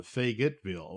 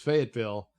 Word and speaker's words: Fayetteville: yeah oh well uh fayetteville i thought it was uh faye gitville well all right so it's fayetteville i guess the old